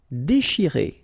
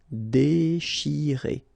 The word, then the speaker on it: déchirer: Déchirer, okay, C-N-H, sh, and after that you've got this I, chi. Déchirer, déchirer.